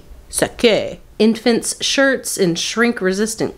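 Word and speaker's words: sacque: at the bottom and it's spelled sake s a c q UE e sake infants shirts and Shrink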